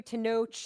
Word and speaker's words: Tenoch: In our main review, Tenoch, it's a ch, it's a Yes. letter in the alphabet. Ch.